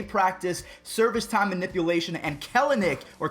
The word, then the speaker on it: Kelenic: confirmed that they practice service time manipulation and kellenick or kellnick actually that's how you say his name he